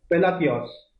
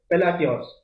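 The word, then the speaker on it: Palacios: तो इस जीता कौन है आपका, निकारागुआ कंट्री की शेनिस पेलाकियोस, ठीक है, फिर वही प्रोनाउंसिएशन, शेनिस पेलासियोस निकारागुआ की है, ठीक है, एल साल्वाडोर में ये हुआ था।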